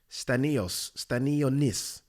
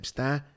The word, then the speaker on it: Stanionis: Stanionis. How do I pronounce this guy's name? Stanionis.